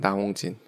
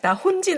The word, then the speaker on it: 나홍진: 나홍진. 그렇게. 나 혼진 아니고 나 홍진이거든요.